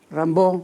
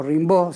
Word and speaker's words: Rimbaud: las imágenes de aquí rambo o rimbaud según como se quiera pronunciar lo que era muy joven